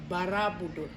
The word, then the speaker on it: Borobudur: Because the adaptation of our local people, they spell and pronunciate very short and easy for them. Borobudur. And now become Borobudur. Monument on the hill.